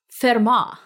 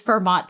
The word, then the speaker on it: Fermat: with math let's find out so let's shot fair ma I'm so excited also great accent thank you